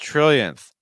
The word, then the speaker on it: trillion: Angeles it's not true so when you're saying that TR sound just to know it makes like a when a t and an R link together it makes like a CH sound it's like CH to follow by an R tra so Trill Trill so it's not real it's not chill it's Trail trill and now we have